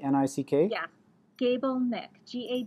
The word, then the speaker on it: Gabelnick: get the website right is it gable like gable without the e ni ck gable Nik GA b l ni